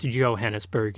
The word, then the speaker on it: Johannesburg: The assassination by Thompson gun sends Van Owen's corpse flying, maybe literally, from Mombasa to Johannesburg, pronounced Johannesburg in some renditions.